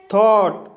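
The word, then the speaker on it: thought: थॉट, थॉट शब्द में ओ यू के बाद जी एच आया है, इसलिए जी एच साइलेंट रहेगा, इसलिए इसे थॉट पढ़ा जाता है।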